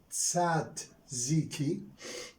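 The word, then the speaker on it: tzatziki: is written in english as t-z-a-t-z-i-k-i it is pronounced sad z key we borrowed this word from english not from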